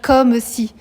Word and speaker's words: comme: Vous devez dire comme si. Parce que si vous lisez comme si, on voit que vous connaissez rien à la poésie. Parce que le E se prononce forcément dans la mesure où il est suivi d'une consonne.